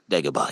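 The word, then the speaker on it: Dagobah: to deoa is that how you say it deoa yes DEA to complete his Jedi training he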